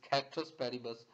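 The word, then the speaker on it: ceteris paribus: and here is the citrus paribus it's also pronounces real pronunciation is cactus Paribas but citrus paribus other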